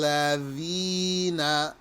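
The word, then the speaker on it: الذين: This DH represents the letter thal. Like in English, if you said the or this or that. Siratal ladhina. Some people pronounce this with the Z or letter Zai, and that is invalid.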